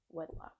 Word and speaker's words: wedlock: Well, I have another brother that is um a child out of Warlock as well, but is that how you say it? Not Warlock. Wedlock. Wedlock.